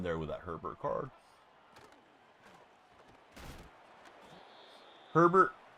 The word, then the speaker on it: Herbert: Herbert, of course, rhymes with sherbet.